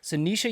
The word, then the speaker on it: Sinisa: here we have sisha how's it pronounced sisha happy to happy to